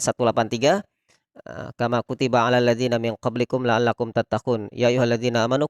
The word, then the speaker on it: min qablikum: Kesalahan kita, pemahaman kita selama ini NG. Jadi tidak ada NG. Min qablikum, tidak juga. Min qablikum. Meskipun itu memang cenderung NG, tapi bukan ND.